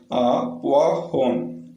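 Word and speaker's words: poivron: Next one புவாஹோன். ஏ pepper அப்படின்னு அர்த்தம். ஏ pepper, மிளகு நம்ம சொல்லும் பார்த்தீங்களா, அதான். ஓஐ சேர்ந்து வந்தால் வான்னு ப்ரொனவுன்ஸ் பண்ணும். வாஹோன்.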